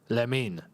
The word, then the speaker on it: Lamine: Lamine. That's how it's actually said.